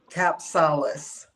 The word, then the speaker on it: Kapsalis: I didn't check that I've got the pronunciation of your name right say again. Capsalis.